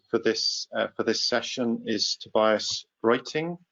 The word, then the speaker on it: Roetting: So our third final speaker for this session is Tobias Roetting. Is that, have I pronounced it correctly? Yeah, close enough. It's Roetting in Germany, but it's close enough.